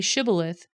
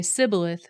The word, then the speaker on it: Shibboleth: If the man said, No, I'm not, they would tell him to say Shibboleth. If he was from Ephraim, he would say Sibboleth, because people from Ephraim could not pronounce the word correctly.